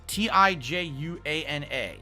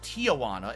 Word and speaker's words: Tijuana: doing yak almighty tijuana t-i-j-u-a-n-a so it's not tijuana it's actually tijuana why does it why